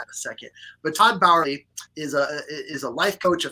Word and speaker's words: Bauerle: It's Todd Bauerle technically, but Todd just works.